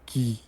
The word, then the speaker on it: que: So here you don't pronounce it like qui, but que.